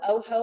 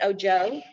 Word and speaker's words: Ojo: ojo o j o o ho like spanish for i uh but they pronounce it oh joe um is another one